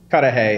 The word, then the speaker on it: Cudahy: How do you pronounce that? Cudahy.